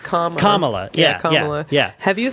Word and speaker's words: Kamala: Kamala. I was just trying to remember. It's like, wait, I've always pronounced it correctly. Which way do you pronounce it? It's like Kamala. Kamala.